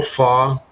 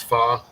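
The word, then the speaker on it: phở: all and that's u a real fa which is spelled pH o it's it's fa and um loads of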